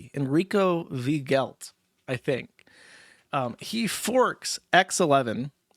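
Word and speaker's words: Weigelt: I haven't written down, Enrico Vigelt, I believe is how you would pronounce that. It's spelled W-E-I-G-E-L-T. Enrico Vigelt, I think.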